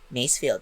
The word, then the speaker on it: Masefield: Masefield, if I'm not mistaken, that's how it's pronounced.